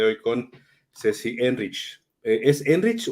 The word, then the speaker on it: Enrich: Con Ceci henrich es enrich o es Enrique así tal cual como como se escribe Así se pronuncia Sí muy bien muy